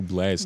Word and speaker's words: BLXST: a nigga like Blast? You feel that way about Blast? I don't even know who Blast is.